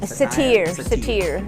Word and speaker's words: Satir: You know, how do you pronounce that name? Satir, Virginia Satir.